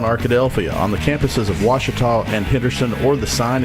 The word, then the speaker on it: Ouachita: oh Akita looking for Washita Baptist University back in Texas everybody pronounces it Wichita but really it's Ouachita Ouachita Washington how would